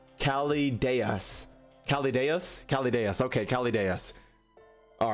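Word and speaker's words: Chaldeas: But the proper way is Calideus.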